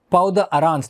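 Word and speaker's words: peau d'orange: obvious dimpling or puckering or powder arounds that's how it's pronounced and we normally call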